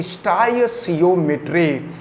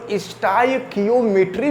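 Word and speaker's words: stoichiometry: Term का नाम है स्टाइचियोमेट्री। तो स्टाइचियोमेट्री को स्टाइकियोमेट्री भी कहते हैं। अलग अलग पुस्तक में लोग अलग अलग तरीके से उच्चारण करते हैं, तो इसको आप ध्यान में रखे रहिएगा।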